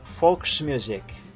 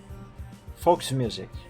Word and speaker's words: Volksmusik: Pronunciation was okay, just the V is like F in German.